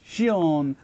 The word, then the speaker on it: シオン: check out his name so based on my understanding it should be pronounced as Shion and before we carry